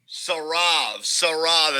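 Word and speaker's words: Saurav: Sarav is how it's pronounced.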